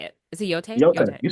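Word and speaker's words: Yōtei: Is it Yote?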